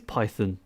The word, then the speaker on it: Python: It is Python. That's how it's pronounced. Look, the language was named after Monty Python, which is British. Therefore, the pronunciation of Python formally should be the British pronunciation of it.